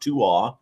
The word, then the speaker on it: Tuath: It's pronounced Tuath. It looks like Tuath.